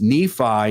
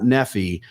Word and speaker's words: Nephi: we go you know it's nephi not nephy but we don't we weren't